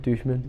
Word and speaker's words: Duchemin: Is it 2 syllables or 3? Duchemin? Just 2, Duchemin.